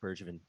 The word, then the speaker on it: Bergevin: have chirped bird uh i always say his name wrong too i've chirped bergevin for years and this seems like a really